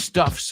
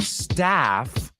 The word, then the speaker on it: stuff: these saidia or whose stuffs are these no it's whose stuff is it whose stuff is it and let's not mispronounce that word it's not staff staff is laa the staff and stuff so let's say say